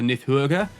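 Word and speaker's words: Níðhöggr: into the Nordic pronunciation, the D there should have that little cross over the top of the branch, making it a Nith rather than Nid. Or I suppose the H does help with that. And then it should be an O with an umlaut above it. So you're looking more at a pronunciation, something similar to Nidhogger, if I'm pronouncing that right.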